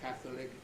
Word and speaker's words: Catholic: So they are Arabic, arithmetic, Catholic, choleric, not a common word, heretic, lunatic, politics, and rhetoric. You can remember those words, they break the rule.